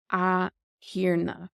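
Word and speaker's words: a Thiarna: And then if you were addressing the Lord, you would say a hirna. A hirna. And the T becomes silent with the Séimhiú.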